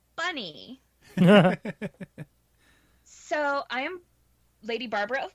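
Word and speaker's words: Bonei: spelled B o-n-e I it's pronounced bunny so i am lady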